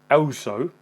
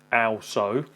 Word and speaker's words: aosu: Today I'm looking at, which I believe is pronounced aosu, aosu, and this is their